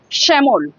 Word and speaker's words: শ্যামল: এবার যদি বলি শ্যামল, শ্যামল, শ্যামল, শ্যামল হলে স এর পাশে দেখো একটা, দেখো শ্যা, শ্যা হলে মানে স এর পাশে একটা হ উচ্চারণ হচ্ছে, সেই জন্য শ্যামল, SH। যদি শ্যামল তোমরা ইংলিশে লেখো কি লিখবে? SH, তাই তো, শ্যা।